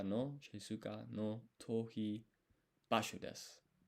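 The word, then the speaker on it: です: So, isogashi nichijou kara no shizuka no tohi basho desu. Not pronouncing this U at the end, apparently.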